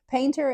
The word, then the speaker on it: painter: panther I mean it's painter is an Appalachian pronunciation of Panther uh which really is